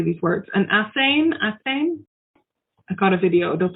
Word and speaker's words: athame: An athame? I got a video. It'll tell us. A ceremonial blade, generally with a black handle. How do you go about pronouncing it? Athame.